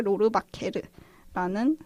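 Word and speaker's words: Rohrwacher: 그쪽의 성인 거 같은데 뭐 로르바허, 로바, 로바케르 뭐 어쩌고 저쩌고 이렇게 다양하게 불리다가 이번에 좀 어 수입하신 M&M 거기서 좀 확정적으로 이런 발음을 이제 정하신 거 같아요. 그래서 알리체 로르바케르라는 성함이시고 어 이탈리아 분이신데 이제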